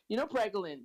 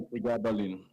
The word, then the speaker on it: pregabalin: I'm a pharmacist, and it's like, Pregolin. Dr. West, can you hear me? Yes, I can hear you. Oh, you know Is it Pregolin, right? or pregabalin? Pregabalin or Pregabalin.